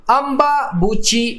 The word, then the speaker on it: अम्बुबाची: यहाँ पर एक मेला का नाम दिया गया है अम्बाबूची मेला या अम्बुबाची, आप जैसे प्रोनाउंस कर लें, अम्बुबाची मेला।